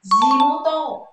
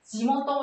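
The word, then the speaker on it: 地元: Rồi, chúng ta sẽ có cách đọc là Jimoto. Đúng rồi, chúng ta sẽ đọc là Jimoto với các bạn, cái địa phương đấy.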